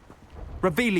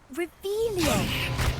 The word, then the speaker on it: Revelio: Revelius. You're saying it wrong. Ugh, Revelio.